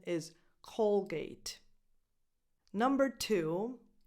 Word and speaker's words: Colgate: of the way we can start number one Colgate Colgate so if you're speaking with non Italian speakers don't don't say k cuz you might confuse people the English pronunciation is Colgate number two Palm Olive this is made up